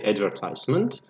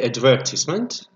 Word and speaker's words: advertisement: the word advertisement because it has two different pronunciations we can say advertisement with American English accent and we can say advertisement with British English sell